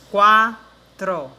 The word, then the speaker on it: quatro: Porque quando você coloca outra vogal, como por exemplo o A na palavra quatro, na palavra quatro, você observa o som da letra U sendo pronunciada.